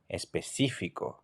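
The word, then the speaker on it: específico: ATI on the second eye I would say especifico especifico which means specific so listen to the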